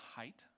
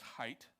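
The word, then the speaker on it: Haidt: But it's called The Anxious Generation by Jonathan Height. It's pronounced height, but it's spelled h ai dt.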